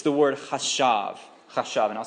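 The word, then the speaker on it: חשב: So if you are taking notes, it's chet, and then a sheen, and then a beit. A beit, yes. I'm not sure. Good question. Chashav. And you would, you would pronounce that like C-H-A-S-H-A-V. Something like that.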